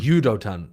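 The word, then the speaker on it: 유도탄: correct you and say it's Udotan and not Udotan, yes. because it's an actual word in Korean. Udotan, like with a Y kind of sound at the beginning.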